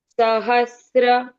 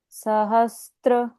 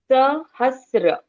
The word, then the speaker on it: सहस्र: पहले बोलना है श्री दीर्घ उच्चारण श्री आप बोले श्री विष्णु विष्णु सहस्र सहस्त्र यहां पर त्र नहीं है। सहस्र आधा स प्लस र करेक्ट यहां त्र नहीं है।